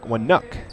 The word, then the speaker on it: Wnuk: bucket there is Alec wuck Wu's name is spelled wnuk so a silent a in there and wook has his first point